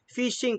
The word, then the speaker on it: phishing: Pero sa computer, ang tawag dyan, phishing, parang pronounced na phishing na yung pangingisda.